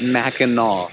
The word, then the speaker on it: Mackinac: ways to travel smarter there is mackinac city m-a-c-k-i-n-a-w and mackinac island m-a-c-k-i-n-a-c it's just two different spellings from two different cultures still both pronounced mackinaw i've been calling it